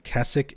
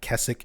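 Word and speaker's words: Keswick: the Lake District of Kessich, England. And in Silent Hill 2 remake, they actually reference Kessik. Um, which is, for anybody looking it up, it's spelled Kzwick. Kei CK.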